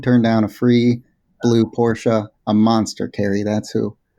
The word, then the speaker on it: Porsche: We just need a fancy car that has 2 syllables. You chose Lexus. I went with Porsche.